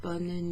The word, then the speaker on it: bonne: And the reason bonne is pronounced bonne in bonne nuit, where you have that N sound, and sometimes you even hear the E at the end, bonne nuit, is because it's spelled B-O-N-N-E.